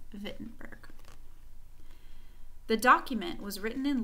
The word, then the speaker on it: Wittenberg: but we actually in in German they pronounced the W like a V so it's pronounced befitting burg the document was written